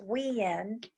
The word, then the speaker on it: Wien: the people of Vienna which is pronounced we end WI en in Austria point to